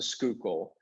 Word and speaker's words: Schuylkill: I know it's pronounced the Schuylkill, but I just had to, for some reason, I had to do the name the way I did it.